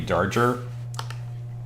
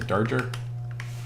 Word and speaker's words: Darger: Another guy they talk about a lot is is a guy named Henry Darger. I think that's how you say Darger. Not danger.